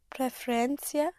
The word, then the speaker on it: preferencia: You push down on the penultimate syllable on the syllable before last.